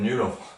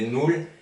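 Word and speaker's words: null: C'est pas comme nul, c'est nul. N-U-2-L. Le U se prononce OU en allemand, sauf s'il y a les deux points dessus, les trémas.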